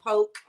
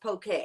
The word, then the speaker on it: poke: it's it looks like poke but it's pronounced poke like okay okay p-o-k-e uh poke